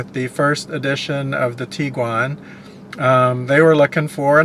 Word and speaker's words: Tiguan: So the actual way you are supposed to pronounce that, if you're going to pronounce that, the German way is to pronounce it as the Tiguan. It's not the Tiguan or Tiguan or Tiguan or anything like that. The proper way to pronounce it, the German way, is Tiguan.